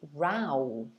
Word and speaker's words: row: go the other one however the other pronunciation of this word is rao and it can be